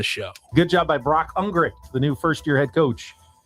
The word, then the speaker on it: Ungricht: It is pronounced Ungricht. I'm dying. The T is silent.